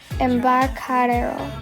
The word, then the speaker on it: Embarcadero: Also, the Pier 1 stoppage I showed you before, it's in the Fisherman's Wharf, and it's pronounced the Embarcadero, something like that.